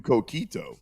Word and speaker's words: coquito: I don't say no to coquito. I've never had it, but I never say no to coquito. Am I saying it right? Coquito? You're saying it perfectly.